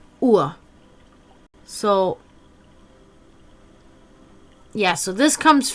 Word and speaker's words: Uhr: Everything that we put Ur, which is also funny because Ur, pronounced the same way but spelled UHR, is clock. Ur.